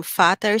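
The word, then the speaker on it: Vater: v-a-t-e-r and that's where the v pronounced like a letter f is fatter's and then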